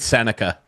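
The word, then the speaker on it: Sennecke: And I think it was Beckett Seneke. Is that how you say his name? Beckett Seneca.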